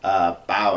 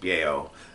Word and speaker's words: Bao: Bao, I think is how it's pronounced. Bao.